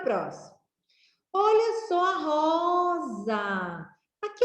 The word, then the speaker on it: rosa: Olha só a rosa. Aqui é uma rosa. Como é que escreve rosa? Ro mais za, igual a rosa. Esse S aqui tem o som de Z, e é desta forma